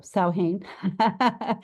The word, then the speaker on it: Samhain: References to the pumpkin are recorded at least 3,000 years ago in Celtic tradition, in conjunction with the celebration of Samhain, pronounced, Samhain. Samhain.